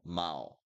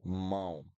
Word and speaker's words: mão: The trick to pronounce this sound is, you can imagine when I say mal, mal, the sound is coming right here, mal. So I need to make this sound come on this direction. So mão, mão. The sound goes up, mão, instead of mal, mal, mão.